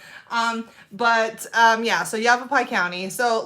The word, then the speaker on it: Yavapai: you yav aie County or as I would say when I first moved here yappi because I didn't know how to pronounce everything um but um yeah so Yavapai County so like a